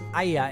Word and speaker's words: Oia: But this other region, folks, it's called Oia. Actually, it's spelled O-I-A, as you can see here on the screen, but it's pronounced Aya.